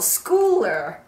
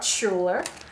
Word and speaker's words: Schouler: on YouTube in fact the last name is called schooler not Scher so this is the